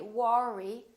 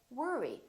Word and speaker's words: worry: to work or worry don't say War II say worry don't worry another one